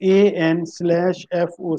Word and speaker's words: ANFO: और ANFO को हम लोग जो है वो AN/FO से भी रिप्रेजेंट करते हैं, and this term is used for ammonium nitrate fuel oil.